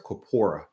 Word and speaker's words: corpora: right you've all used corpuses before i'm sorry copora you've all used copora which is the player of corpus before you've used dictionaries